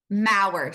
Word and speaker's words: Maurer: Mauard. So, it rhymes with power.